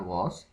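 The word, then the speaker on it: Ghose: है जी Zulfikar वॉस वॉस के spelling जी एच ओ एस ई है जी एच ओ एस ई वॉस हो गया उसके बाद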